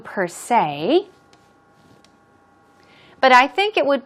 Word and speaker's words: per se: What about per se? Per se. Stress goes on. Say. Per se.